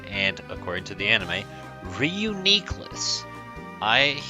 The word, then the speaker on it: Reuniclus: according to the anime, Reuniclus. I hear False Swipe Gaming say Reuniclus, and I think that sounds a lot nicer and smoother, but Reuniclus because nucleus, so that's the way it is.